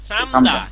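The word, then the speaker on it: 삶다: শালদা রিউলের উচ্চারণ হবে এর রিউল বাদ যাবে সামদা।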